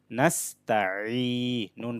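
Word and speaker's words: نَسْتَعِينُ: নাস্তা, আইন ইয়াজের ই, নাস্তাই, নুন পেশ নু, নাস্তাইনু, আইনটা একটু গলার মধ্যভাগ থেকে চাপ দিয়ে উচ্চারণ করতে হবে।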